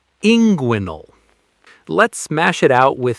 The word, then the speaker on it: inguinal: It looks strange on paper, but the common American medical pronunciation is inguinal.